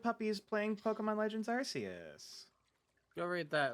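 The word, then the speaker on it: Arceus: how that's how it's there are multiple correct pronunciations all words are made up all words are made up that was the original pronunciation they've actually like gotten back like gone back on it more because of it being like hey it is Pokemon Gods it makes sense for Pokemon God to have different pronunciations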